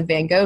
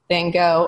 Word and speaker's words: Van Gogh: And then in Amsterdam, of course, we all went to the Van Gogh Museum together, which was an emotional experience for me.